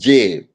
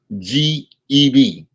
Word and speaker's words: Geb: And his father's name is Jeb. Geb.